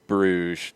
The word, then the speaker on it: Bruges: So I have always heard Club Bruges described, this Belgian club, as the French pronunciation, Bruges.